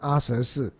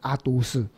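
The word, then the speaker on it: 阿闍世: 那阿舍是，翻译他的名字为什么一定要念成阿舍氏？为什么不能念成阿都氏？啊，你不是说习都绝山吗？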